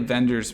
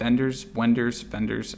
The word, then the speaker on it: Wenders: Now, it's definitely a Wenders movie. Is it how you say it? Wenders? I think it's a V sound.